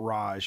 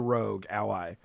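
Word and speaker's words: ROG Ally: It's not Raj. Is it Raj or Rogue Ally? It's the Rogue Ally.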